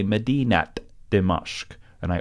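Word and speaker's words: مدينة: Non-final words that end with ta marbuta pronounce the ta marbuta like a regular ta.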